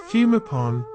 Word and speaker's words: Bhumibol: Sanskrit as Bhumibol, yet is pronounced in Thai as Phumipon, using Thai Sanskrit pronunciation rules since the original Sanskrit sounds do not exist in Thai.